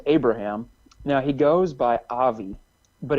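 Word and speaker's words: Awie: Now he goes by Avi, but it's spelled A-W-I-E, so W pronounced V.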